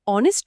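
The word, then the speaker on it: honest: ইংরেজিতে অনেস্ট শব্দটিতে এইচ নীরব থাকে। উচ্চারণ শুরু হয় ও থেকে।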